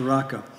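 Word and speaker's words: Raca: just tear them down you just call the raka it is the only time the only passage where the Bible uses this term and it just comes from an Aramaic word Arica but pronounced araka as I said very direct orally meaning empty-headed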